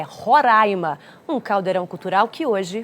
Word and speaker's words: Roraima: O que gera confusão é como se pronuncia o nome do estado. Eu já aprendi há muito tempo que é Roraima, até porque se eu falar diferente, a Ellen briga comigo. É isso mesmo. Fábio, é Roraima, um caldeirão cultural que hoje faz 31 anos.